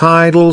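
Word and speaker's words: I-DLE: I'm fully convinced that they hate women succeeding and people overreact over the removal of the G when it's always pronounced idol since debut.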